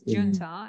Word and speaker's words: junta: english and you know in spanish usually j i think i don't know spanish just the words that i heard that j is pronounced what i think i don't know something like that but in english of course it's junta and it's what you said